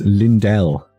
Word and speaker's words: Lindell: that's all we're getting your last name is pron pronounced Lindell like the Dell computers it's good to know